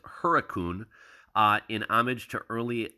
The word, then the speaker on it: Hurricane: Later pronounced locally as Huracun uh, in homage to early live poodle settlers.